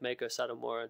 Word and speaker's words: Meiko Satomura: Pronounce her name again. I don't want to brutalize it. Meiko Satomura.